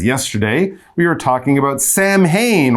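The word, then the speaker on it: Samhain: we were talking about Sam Hayne or sauwin that was the traditional pronunciation that was started and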